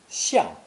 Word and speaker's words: 向: This character, meaning to turn to or face a direction, is pronounced fourth tone, xiang, xiang.